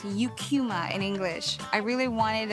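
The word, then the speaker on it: Eucheuma: And I would hear Japs pronounce the name of the seaweed species as Ikuma. The scientific name is pronounced Eucuma in English.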